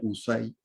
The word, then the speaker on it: UCAI: La UCAI, o sea, UCAI se pronuncia USAI.